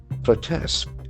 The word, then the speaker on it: protest: So the accent falls on the second syllable.